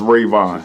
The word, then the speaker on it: Rayvon: of like all right call me raven raymond whatever yeah but it's pronounced rayvon know my name okay